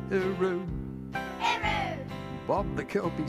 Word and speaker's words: hooroo: Or as some people in Australia say, hooroo. Hooroo. It's time to say goodbye to you. Say it like Australians do.